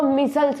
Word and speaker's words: micelles: देखिए और ऐसे एक स्ट्रक्चर का फॉर्मेशन हो जाएगा, ऐसे ही फॉर्मेशन हो के एक स्ट्रक्चर का फॉर्मेशन हो जाएगा जिसको मिसल्स बोलेंगे।